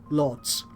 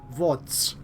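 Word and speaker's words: Łódź: Oh no, Lodz, which I believe is actually pronounced Wodz or something like that.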